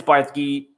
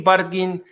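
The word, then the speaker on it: Bardghji: I Googled how they pronounce his name. I think it's Bartki, but he is a Swedish teenager.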